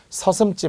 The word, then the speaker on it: 서슴지: 자도 리얼 잘 아시죠 이제는 서 섬 치가 아니라 백퍼 섬 치 발음은 찌가 되는 거라고 했죠 이때 치라고 하면 절대 안 되니까요 서슴지 말고 또는 서슴지 않고